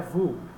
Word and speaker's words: Vue: A pronúncia certa desse cara é Vue. Vue. Estranho, né? Faz um biquinho, Vue, né? Vue, se falar Vue para um americano é isso aqui, tá? É Vue, visão.